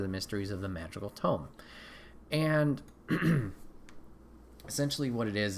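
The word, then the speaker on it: Toem: to the party um i believe it's pronounced tone t-o-e-m and essentially what this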